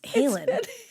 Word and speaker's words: Halen: You keep saying Van Halen. Van Halen. It's Halen.